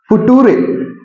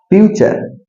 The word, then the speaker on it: future: बाद में जो आएगा वो हो गया फुटूरे, नहीं सर, फ्यूचर।